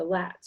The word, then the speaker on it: lats: called the flats well this is called the lats because that F sound is dropped in order to fit Finnish pronunciation rules so you've probably figured